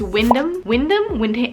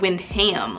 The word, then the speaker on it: Wyndham: I think it's Wyndham? It's not Windham, like freaking animal.